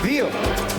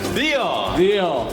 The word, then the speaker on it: δύο: How do you say two? Δύο. Δύο.